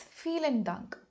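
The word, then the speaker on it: vielen Dank: use feel and dunk notice that the alphabet v in English when it comes to German has the sound F so it's feel and dunk moving on we have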